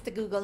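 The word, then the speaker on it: Stogle: No, it's to Google. Now, what's how do I spell it?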